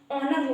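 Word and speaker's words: honour: इसी तरह से गाइज़ हमारा ऑनर हो गया। इसको कभी भी होनर नहीं पढ़ेंगे। ऑनर जो होगा हमारा रोंग हो जाएगा। इसको हम ऑनर पढ़ेंगे। यहां पर एच जो है हमारा साइलेंट है।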